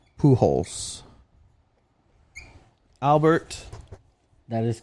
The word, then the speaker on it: Pujols: to pay him so Albert Pujols they pronounce it who holes Albert that is correct